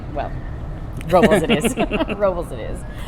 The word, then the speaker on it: Robles: Remember the radio announcer said Paso Robles. The people. locals say Robles.